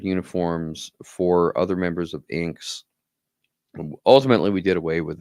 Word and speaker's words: INKKS: The organization is called International Neoclassical Karate Kabuto Society, INKKS, or as we pronounce it, INKS, INKKS.